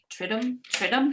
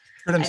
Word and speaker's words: Triduum: Triduum? Is that how you say it? Triduum's how we've been saying it.